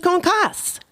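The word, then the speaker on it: concassé: dictionary and it said that the pronunciation is concasse.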